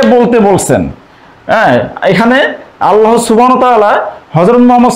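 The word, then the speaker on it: هو: কুলহু আল্লাহু আহাদ আসলে এখানে হুয়া শব্দটি কিন্তু একটি আলাদা একটি শব্দ হুয়াল্লাহু আহাদ তো এখানে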